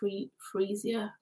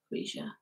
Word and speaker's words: Freesia: It's pronounced Freesia. Freesia.